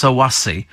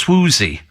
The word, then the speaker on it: Swoozie: ago sue in hackney it's pronounced it's not pronounced sawasi it's pronounced swoozie it's a dance all